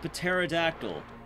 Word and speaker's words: pterodactyl: He is the pterodactyl. The P in it. I know it's pronounced pterodactyl, but I'm stupid.